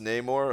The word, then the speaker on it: Namor: It's pronounced Namor according to the cartoons?